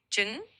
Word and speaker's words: trứng: In Southern Vietnamese, you'd say trứng for egg. So it's got a bit of a soft tr sound at the start and kind of a sound at the end.